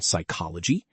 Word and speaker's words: psychology: ps sounds like an s, as in psychology.